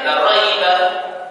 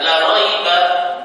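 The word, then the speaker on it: لا ريب: Kalau imam membacanya la raiba, ya, misalnya membaca la raiba, ini artinya apa? Ini artinya adalah apa? Ini artinya penekanan. Tapi kalau dibaca la raiba, ya, panjang maknanya nafi.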